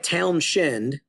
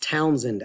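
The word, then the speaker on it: Townshend: it might look like town shend but it's not it's pronounced townend act the H is silent it's named after a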